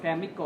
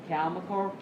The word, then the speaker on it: chemical: Cái từ chemical này chúng ta sẽ đọc xoa âm số 2. Phần lớn những cái từ có đuôi -cal này bao giờ là xoa, đúng không? Chúng ta không đọc là chemical mà là chemical, right?